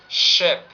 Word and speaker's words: ship: It will be ship. And the next, it's like you have to pronounce it very close to Russian she.